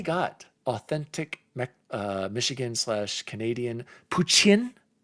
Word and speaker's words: poutine: Puchin, I believe is how you pronounce it. Puchin. Puchin is what Zank Kai goose said is how you're supposed to pronounce it.